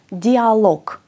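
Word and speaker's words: диалог: τέλος θα πούμε κ dialog λοιπόν όταν ένα γ που είναι πιο σκληρό βρίσκεται σαν τελευταίο γράμμα σε μία λέξη το προφέρουμε ως πιο αδύνατο κ κ γίνεται κ επαναλαμβάνουμε μαζί τα παραδείγματα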